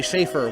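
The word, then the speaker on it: Schaffer: F's it is scha FF er it's actually Shaffer one of the S is silent and Shaffer hit a 1-1 pitch for a single back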